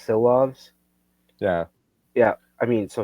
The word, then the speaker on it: Silovs: You're gonna have to help me with the pronunciations. It's Silovs.